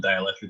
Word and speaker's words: Dielectric: typically think of spelling dielectric. They have it spelled like, you know, die. Dielectric. Yeah, like die, fucker, die.